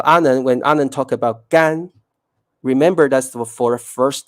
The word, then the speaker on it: 干: pay attention to is remember that's the first tone gan first gambe is not gambe no can be because whenever you pronounce the word with the fourth stone gan it means to do or to work okay so this gun